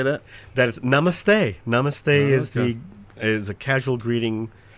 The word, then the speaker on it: namaste: That is namaste.